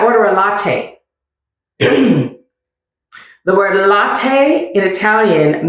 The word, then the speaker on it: latte: Do pronounce the E at the ends of Italian words. So for instance, I said latte.